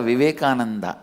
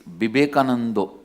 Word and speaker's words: Vivekananda: Because in Bengal all the A will become O. In Bengali it is never Vivekananda, it is Bibekanando.